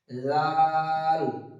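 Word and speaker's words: ذال: দাল তারপর আসছে জাল জাল এটা হালকা একটা তুতলা হবে জাল একদম যেন চয়ে আকার ল জাল এরকম জাল যেন না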